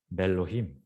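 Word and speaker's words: מֵאֱלֹהִים: 근데 실제로는 이렇게 나온 게 아니고 너무 이렇게 빈번하게 나오다 보니까 이게 묵음이 돼버려요. 묵음이 되면서 음가를 상실하면서 마치 알렙은 음절의 마지막이나 단어의 마지막에서는 묵음이 된다고 했잖아요. 그런 것처럼 아예 이것이 소실되면서 매 이렇게 돼요. 그러면서 아예 이것도 장모음처럼 체르로 바뀌어요. 그래서 실제로는 어떻게 나오느냐? 멜로힘 이렇게 나와요.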